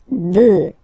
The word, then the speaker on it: bœufs: just add this s, but then pronunciation changes quite much because you get des bœufs, all right, un bœuf, des bœufs, all right.